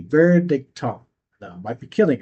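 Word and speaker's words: Verdichtung: um the official word for condensation I might mispronounce it but basically it's vericon v e r d i c h t u n g vericon now my might be killing it that's the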